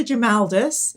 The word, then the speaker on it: Grimaldus: just put all the times we said his name wrong. Okay, so, right, okay. It's Historita Grimaldus.